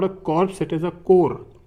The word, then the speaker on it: corps: So it is not a corpse, it is a core. You can pronounce it like core.